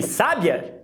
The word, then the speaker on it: sábia: Quando eu vou falar ela extremamente inteligente, experiente, eu jogo a tônica no primeiro A. Sábia, sábia.